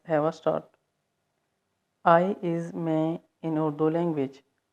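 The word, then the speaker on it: میں: I is मैं in Urdu language. मैं, N is silent.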